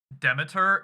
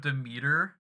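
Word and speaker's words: Demeter: __ ] Whiplash moment hearing Deiter instead of demer oh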